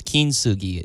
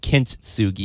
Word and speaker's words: kintsugi: that you pronounce it it's kin soogie not kintsugi there you go by